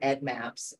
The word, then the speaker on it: EDDMapS: examples of correct usage and incorrect usage um pronunciation is another thing we um we love to hear Ed Maps um Ed Maps is something that happens a